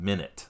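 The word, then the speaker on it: Minit: Steam it's a little Indie Style game called minute mhm and I'll spell that cuz it's not how you would expect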